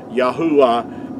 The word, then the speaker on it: Yahuah: pronounced making vowel sounds yahuwah is the way that our creator's name is pronounced i hope this has